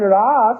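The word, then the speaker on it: rasa: Russa you understand and Ras with a long a in Sanskrit means how that is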